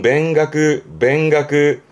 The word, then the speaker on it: 勉学: 발음은 뱅가그.